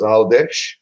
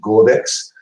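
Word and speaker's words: Għawdex: Yeah, like Gozo in Maltese is Audesh, but it's spelled Ghawdex. So most of the English guys, English people that come here call it Godex. Because that's how you pronounce it in English.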